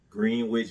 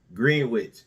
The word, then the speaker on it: Greenwich: the aficionados out there, I know it's pronounced Greenwich Village, okay? All right? But if you look at the letters and read it, it says Greenwich.